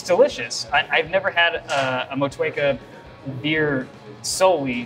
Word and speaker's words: Motueka: Motueka. Oh, no, you nailed it. There you go. Yeah, that's fine. Motueka is the only hop used in this beer.